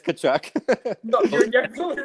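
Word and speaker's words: Tkachuk: must be um Matthew kachuck uh theal kachuck kachuck I'm pretty sure it's t no no it's kachuck no you're definely wrong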